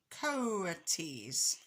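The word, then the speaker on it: coatis: These are coaties, Miss Brisbane said, reading from the letter, pronounced coaties.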